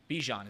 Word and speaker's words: Bijan: Bijan, is that how you pronounce it?